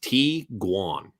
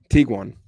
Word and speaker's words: Tiguan: This combination of German words is pronounced Tiguan. Tiguan.